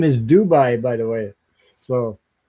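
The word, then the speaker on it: Doubai: So, they it's it's you pronounce it the same same way.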